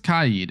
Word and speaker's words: Kaid: Next is Kaid, and yes, that is the correct pronunciation. Shame on you if you're saying Kaid.